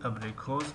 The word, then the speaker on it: абрикос: ударения дар калимаи абрикос дар ҳиҷои охирон аст.